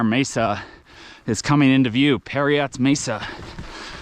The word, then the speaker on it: Parriott: is coming into View periot Mesa spelled like Marriott but with a p um I have no